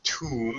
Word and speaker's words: tomb: You got it later, but of course the pronunciation is tomb.